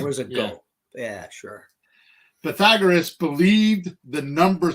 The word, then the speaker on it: Pythagoras: It's not Pythagoras.